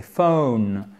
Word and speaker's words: phone: au téléphone tout ap de faune c'est pas fort phone c'est pas fun c'est phone diphtongues chez un ami